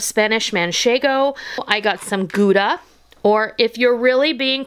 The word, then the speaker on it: Gouda: I got some Gouda, or if you're really being particular, it's pronounced Gouda.